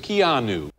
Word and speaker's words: Keanu: I was saying Keanu or something. It's Keanu. I was saying Keanu or something. Я говорил Keanu или что-то такое. It's Keanu.